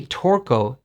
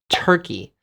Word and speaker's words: Turkey: You don't say Torco, you say Turkey. Like the bird, shichimencho, taki. It's the same pronunciation.